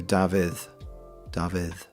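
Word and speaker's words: Dafydd: Um because a single F in Welsh is pronounced like a V.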